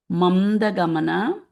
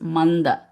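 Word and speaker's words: मन्द: Marali Mamda. If you say Mamda, that is incorrect because the dhana is the Anuswara changes to N. So this Mamda becomes Manda.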